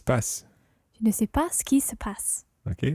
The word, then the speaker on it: ce qui se passe: It's quite tricky this because ce qui is C-E-Q-U-I, ce qui, Ce qui and then se passe, that ce is S-E because it's a reflexive verb, se passer, to happen. Ce qui se passe. Ce qui se passe. And in spoken French, it's very often run together.